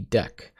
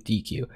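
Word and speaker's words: deque: Otherwise, I was going to go through this whole video saying DQ. Anyways, uh, deck is the proper way to say this word.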